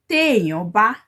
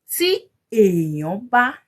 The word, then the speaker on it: Tí èèyàn bá: Téèyàn bá is how you say it. Tí èèyàn bá is how you would write it. If you said tí èèyàn bá, when you're speaking, you're gonna sound weird to a Yoruba person, like, tí èèyàn